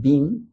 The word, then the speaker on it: been: Hay personas que lo pronuncian been, ¿sí? A mí en el colegio también me habían enseñado a pronunciarlo como been, pero en inglés también podemos escuchar la pronunciación como been, has been, ¿sí?